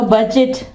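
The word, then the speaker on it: budget: और इसके अलावा बजट, बजट।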